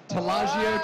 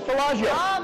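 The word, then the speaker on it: Taleggio: Our chef just told me how to pronounce it. So here we go. Ready? 1, 2, 3. Talaggio cheese. I thought what I was going to say was Talaggio.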